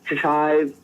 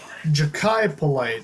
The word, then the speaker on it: Jachai Polite: I thought it was Jachai Polite, but I saw that it's not pronounced that way. So let's hear about your prospect out of Florida. Jachai Polite. That's how you say his name.